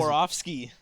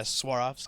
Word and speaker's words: Swarovski: I guess he paired up with Swarovski crystals. Oh, And he's- Swarovski. Oh, is that how it's pronounced? Yeah, Swarovski.